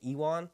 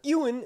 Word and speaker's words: Ewan: me on Saint albanson I was always saying ewon which is really funny like Ewok right that's how it's spelled in American English anyway uh Ewan Mitchell said in uh